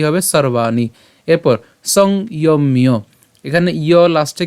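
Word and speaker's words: সর্বাণি: এখানে রেফ আছে তো রেফ থাকলে র হসন্ত পর্যন্ত আমরা উচ্চারণ করব তাহলে তার উচ্চারণ কি হবে সর্বানি এরপর সংমিয় এখানে ইয়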